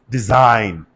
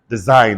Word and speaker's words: design: what do you say design design that guy is silent and you all know why G end together in a syllable that is the principle you hold on to am I making sense to you don't try to cram anything just know whenever you have GN together in one syllable the God will die amen not only GN